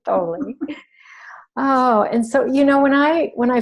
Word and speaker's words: Thoele: I know I'm pronouncing it correctly, Thoele.